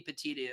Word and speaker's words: petit: grand jury um but a Pettit jury that's the actual pronounce and well actually it could be either way actually I think but it could be peti I've always heard it as being Pettit from from my law professors or what have you